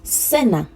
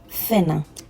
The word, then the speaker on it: cena: So I'm going to be pronouncing it as th. So anytime you hear me say it as th, if you like to use the Latin American dialect, you can use s in place, okay?